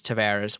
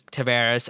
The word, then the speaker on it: Tavares: I mean it could it's up in Canada Samaras down here as Tavares I don't I don't know I think he's even said he doesn't care like so everyone has a different pronunciation I think he's like I pretty sure it's Tavares but you can call